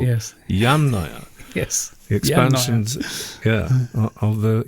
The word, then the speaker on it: Yamnaya: off for putting the emphasis on the wrong Yamnaya, syllable. yes. Yamnaya.